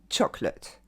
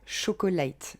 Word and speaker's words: chocolate: C'est seulement 2 syllabes. Choc. Lut. Pas de late. Lut. Chocolate. Et l'accent tonique va tomber sur la première syllabe.